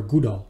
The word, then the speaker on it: GDAL: but you'll also learn gdal or goodall the pronunciation depends on who you speak with i will use gdaw and gdal is basically